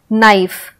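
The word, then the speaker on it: knife: तो ऐसे वर्ड्स जहाँ पे के साइलेंट है, जैसे नाइफ। तो नाइफ सुनोगे तो लगेगा कि एन से स्टार्ट हो रहा है नाइफ, क्योंकि हम कनाइफ तो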